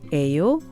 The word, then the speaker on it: 예요: The 5 question words 누구, 뭐, 어디, 언제, and 얼마 are followed by the verb be, 예요, which is pronounced 에요 with a rising intonation.